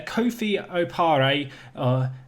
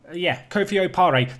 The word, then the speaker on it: Kofi Opare: And well, the first player, Kofi Opare, Kofi Opare, that is how you say his name.